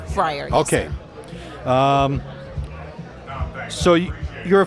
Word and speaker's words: Fryar: that's incorrect so please correct me yeah it's pronounced uh Shaniqua Shaniqua Friar Friar okay um so you're a forest park resident